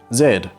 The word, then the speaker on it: Z: us to the final letter Z or as I should pronounce it Zed if you noticed the